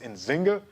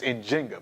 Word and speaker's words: Njinga: Now, you might see her name pronounced Nzinga, but historians, particularly Thornton and Linda Haywood, whose book we'll talk about soon, they kind of said, the more proper way, and particularly when we look at how the Kiambundu language is spoken, is probably a J. So it's Njinga, but you will see